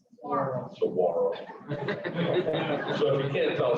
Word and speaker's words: saguaro: Stefanie helps manage her cow-calf operation, farm, Seguro Cactus. You need to talk to Stefanie about her nursery of little itty-bitty cactuses. How do you say that? Saguaro.